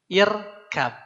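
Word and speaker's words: اركب: dibaca apa Pak irkab huruf hidup pertamanya fathah maka dibaca i irkab ini uktub karena ini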